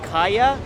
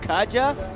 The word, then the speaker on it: Kaja: For those who don't know, actually Kaya is pronounced as Kaya, not Kaja.